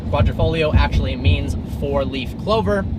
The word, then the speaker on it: Quadrifoglio: offering from Alpha Romeo not called The Gua quatra Porte it is called the Julia quadrifolio quadrifolio actually means for leaf